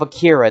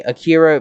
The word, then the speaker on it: Akira: Which, by the way, speaking of Akira, the name, people say Akira, people say Akira, and most people in the film say Akira.